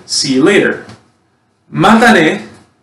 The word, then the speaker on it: matane: Matane, right?